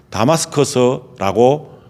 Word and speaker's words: 다마스커스: 우리가 흔히 알고 있는 다메섹이라고 하는데 이 다메섹은 한국식 발음이지만은 다마스커스라고 지금도 불리고 있는데 그 다마스커스로 갑니다.